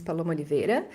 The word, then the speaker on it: Paloma Oliveira: show yay uh so with my pronunciation my name is Paulo monivere um I am currently